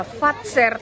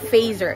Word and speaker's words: Fazer: siya ng fater nga yung pronunciation ko na fater talaga siya hindi siya fazer It's Carl fater k